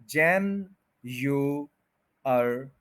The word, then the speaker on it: January: जैन्युअरी start में आप 4 syllables को लहदा लहदा बोल सकते हैं, जैन, यू, अर, ई, ताकि आपको पता चल जाए कि कौन कौन सा जो सिलेबल्स है वो क्या उसकी प्रोनाउंसिएशन है। जैन्युअरी, तो फिर आप स्पीड में बोल सकते हैं जैन्युअरी, जनवरी, जनवरी, जनवरी। तो स्पीड में भी देखें कि 4 सिलेबल जो हैं वो मिलके ही ये वर्ड बन रहा है, तो